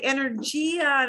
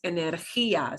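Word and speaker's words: energía: for english speakers because we want to say energia is not that it's not a judge and again this gets an accent mark on that eye that means we punch the ah harder energy whether you're talking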